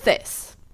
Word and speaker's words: this: between this and these the second one is long like these the first one is short like this so is it that